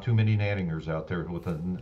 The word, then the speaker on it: Gnadinger: It's in German, it's Gnadinger, which means most gracious. I just say Gnadinger here in the United States. We kind of toned it down when we got here.